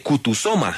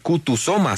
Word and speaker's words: Kutusoma: De resto, tal cual como suena, es una palabra en suahili.